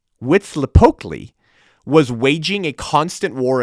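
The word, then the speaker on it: Huitzilopochtli: masquerading as little idols okay the sun god pronounced wits lepotly wits lepokly was waging a constant war against darkness that's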